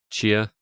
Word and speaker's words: Tchia: Is it just Tchia? I've been saying Chia. Chia. Yeah. TCHIA.